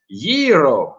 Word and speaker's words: gyro: Dennis saying, by the way, gyro, the food is pronounced gyro. Roll the R.